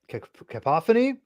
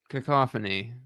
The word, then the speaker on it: cacophony: Uh, is Batman cap uh Kapophony? Am I saying this right? I'm probably mispronouncing this. Cacophony.